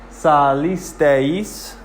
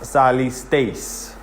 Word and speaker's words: salisteis: So it's not 4 syllables, which would sound like this. Salisteis. You hear that? How it's 4 syllables. Salisteis. That's 4, and that's wrong. Because EI makes a diphthong. So it's 1 sound, which is 1 syllable, which sounds like this. Salisteis. And teis is different than tes. If there was no I, then it would sound like this. Salistes. Salistes, which is not salisteis.